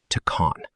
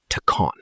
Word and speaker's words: take on: Tacon. The consonant sound at the end of the first word links right into the vowel of the second.